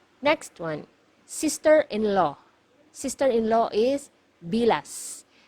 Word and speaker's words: bilas: this one MGA hiala you have to pronounce the letter S at the end because if you mispronounce it nearer to letter T it is actually it actually means the private part of a woman okay so make sure you pronounce the letter s it should be bilas okay next one illegitimate